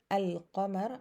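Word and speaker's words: القمر: in opposition to kamar like al kamer i pronounce the lam uh clear that's why they chose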